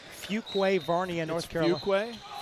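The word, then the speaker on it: Fuquay-Varina: Had to look at I had to look up how to pronounce that town. I'd never seen that before. Fugquway.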